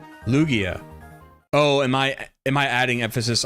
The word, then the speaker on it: Lugia: Like Lugia.